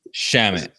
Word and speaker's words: Shamet: How do you say his Shamet?